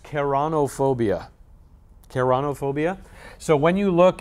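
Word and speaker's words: ceraunophobia: Okay, so this is pronounced keranophobia.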